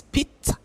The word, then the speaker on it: pizza: My people watching, my Kenyans people watching, it's not pizza, it's pizza.